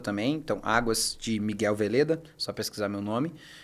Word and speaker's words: Veleda: Então, Águas de Miguel Veleda, só pesquisar meu nome. E nas redes sociais, eu acho que é interessante se conectar por lá, né? Então, @miguelmveleda, bem como se fala, com V mesmo.